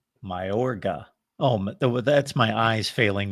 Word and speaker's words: Mayorga: pronounce it? Mayorga. Mayorga.